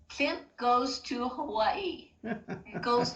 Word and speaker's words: Klimt: Is that how you say his name? Klimt. Klimt. Yes. Klimt goes to Hawaii.